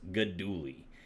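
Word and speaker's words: Guidugli: first one I want to introduce is Gino goduli uh it's spelled g-u-i-d-u-g-l-i but apparently it's pronounced goduli um great guy from from uh he's from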